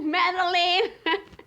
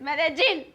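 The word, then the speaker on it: Medellín: to madeleine there's no meddling it's medellin hola expats i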